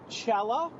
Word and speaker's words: Chella: Chella, am I pronouncing... Yes. Yes, Chella.